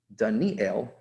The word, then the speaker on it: Daniel: this is um but many people pronounce the name dunnie ale right like malkiel right gavri ale right so god is my